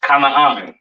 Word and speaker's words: Canaan: This is pronounced Canaan, all right?